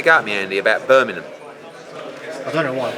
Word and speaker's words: Birmingham: But who would go Birmingham? Birmingham. Yeah. It's no, but you're missing a G. It's not a silent. It's not like you're saying knock it. Yeah, but it's a silent G in Essex.